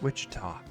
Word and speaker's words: Wichita: poorly they were pronouncing it, but I'm just like, it's Wichita.